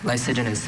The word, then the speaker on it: lysigenous: Are there any alternate pronunciations? Just the one.